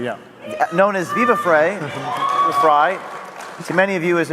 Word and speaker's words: Frei: Next, we have David Freiheit, Phonetically, yeah. known as Viva Frei, Fry, to many of you as a notable Canadian